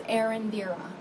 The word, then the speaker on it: Erendira: pronounce your first name well it's pronounced and indeed on but the best way to say is Erendira thank you I want